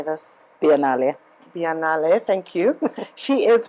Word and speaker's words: Biennale: Biennale.